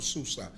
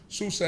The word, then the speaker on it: Susa: place, in Shushan or Susa. Shushan is the way that we pronounce it as Hebrews. Susa is the way that the the Persians pronounced it.